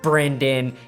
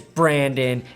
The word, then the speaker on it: Brandon: Don't say my name. Brendan. It's Brandon.